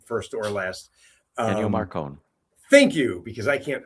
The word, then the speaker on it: Ennio Morricone: wrote Ecstasy and Gold, which I can't ever pronounce his name, first or last. Ennio Morricone.